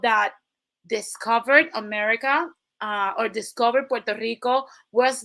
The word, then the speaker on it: Puerto Rico: is rich port, and a lot of gringos love to say Puerto Rico because they don't know how to pronounce Puerto Rico.